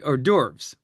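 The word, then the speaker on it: hors d'oeuvres: Oh or or derves.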